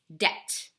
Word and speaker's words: debt: word before last week debt has a silent B so we don't have the B sound it's debt can you say that